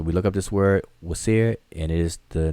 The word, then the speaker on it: Wsir: So this spells out the word Wasir. It transliterates as WSIR. We pronounce it as Osiris or Asar or Usir, Osir, etc., etc.